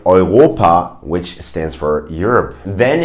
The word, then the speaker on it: Europa: If you see the combination of EU, then it's pronounced Oi in German. In words like Europa, which stands for Europe.